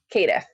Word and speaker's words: Caitiff: I will be playing Cecilia Hinault, forgive me for the mispronunciation, Caitiff? Caitiff.